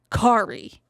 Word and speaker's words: Kari: Kari, her name is spelled Kari. I know. Kari. Kari, not Carrie.